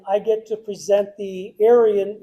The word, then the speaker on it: Arion: Tonight is the band banquet, and I get to present the Arion, it's A-R-I-O-N, they saw it, Arion? Yeah, well, they'll have to say Orion. Yeah, Orion, that's it, Orion.